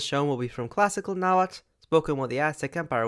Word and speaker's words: Nahuatl: their civilization, they spoke a language called Nahuatl. Yes, with a tl sound at the end, as it is for the majority of nouns.